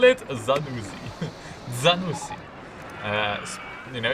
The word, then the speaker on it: Zanussi: Zanussi. You know, if you pronounce it the Italian way.